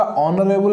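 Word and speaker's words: honorable: ये एच यहाँ पर साइलेंट है, ओके, ये एच साइलेंट होगा। देखिए ये होगा ऑनरेबल, आन ऑनरेबल, ये होगा ऑनरारी, आन ऑनरारी, आन ए आर, ओके, एच नहीं, हेयर नहीं, ए आर, ओके।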